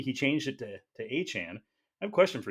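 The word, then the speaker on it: Achane: in parenthesis right so that means that when Devon aan first joined the Dolphins he pronounced it as aan and when he was in college he told people that he was aain because he went by aain all through college so for some reason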